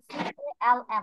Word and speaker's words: calm: C-A-L-M. What is the pronunciation of this one? Calm, not calm.